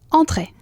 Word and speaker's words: entrée: Como la cara de indiferencia. Sí. Y que el aire salga de tu nariz.